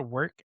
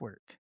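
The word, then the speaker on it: W●RK: is so it's called work, but it's spelled W. It has the dot that's in the middle and then RK. So it replaces the O in work with a dot but it's pronounced work.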